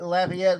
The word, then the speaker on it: Lafayette: I said and I typed in laugh, A-E-T-T-E, Lafayette was a good pronunciation for it.